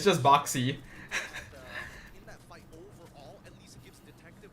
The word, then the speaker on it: Boxy: It's just boxy.